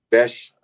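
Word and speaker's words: Bech: Y'all saying his name wrong, but it's okay. How you say it then? Besh. It's Besh. Besh. Besh. Okay, okay. It's the H, the CH. It's a wow. It sounds weird, but that's why they say Beck.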